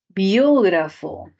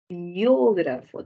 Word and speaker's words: biógrafo: Biógrafo. Biógrafo, tilde en la O. Biógrafo. Si lo separamos silábicamente sería biógrafo. Tilde, ¿por qué? Por esdrújula.